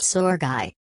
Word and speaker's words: Sergei: "It's not Serge," said Judy. "It's pronounced Sergei."